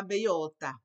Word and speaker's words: bellota: When I see a double L like that's a Spanish letter. It's not a letter to us, but it's a letter in Spanish, classe. And it's pronounced like letter Y, classe. La bellota.